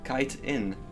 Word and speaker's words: chitin: It's pronounced kite in. Is that so? Yeah. I believe you, but in French it is pronounced precisely chitin, I believe. Maybe I'm wrong actually. No, it would be pronounced this way. Well, I'm sure someone knows better, but I certainly don't. Chitin, yeah, I assumed it was chitin, not kite in, but yeah.